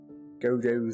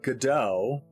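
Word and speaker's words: Godot: So, apparently Americans say GDO, like waiting for GDAU, but like British people say godo, which is interesting to me. Like waiting for Godo. Um, so it's like accent on different syllables.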